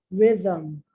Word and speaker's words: rhythm: ghost or in tough, but the silent H is with the R, RH. Let me share my screen with you. Here we go. Silent letters in English, the silent H. Rhythm, rhubarb.